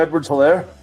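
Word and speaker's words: Edwards-Helaire: Edwards Hilaire.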